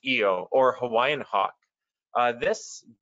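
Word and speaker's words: ʻio: uh favorite bird is the eo pronounced eo or hawaiian hawk uh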